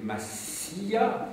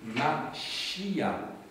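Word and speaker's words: משיח: Et donc, on ne doit pas prononcer Massia, je l'avais fait pour que ce soit audible, mais en fait, il faut dire Machia, qui a donné Meshia ou Messie. Voilà, et donc, il faut chointer votre S pour le prononcer, donc, comme on prononce dans cette langue sémitique.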